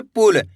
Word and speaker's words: पुल: पुल। इसी तरीके से पढ़ना, कम खींच के पुल।